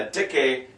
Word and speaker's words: dicke: A dicke, they don't have silent E's in German at the end. If there's an E at the end, you pronounce it.